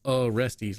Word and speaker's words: Orestes: Sounds like Orestes, like I'm going to arrest you.